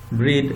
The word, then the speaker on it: breath: Now comes breathe and bread. The first one pronounced breathe.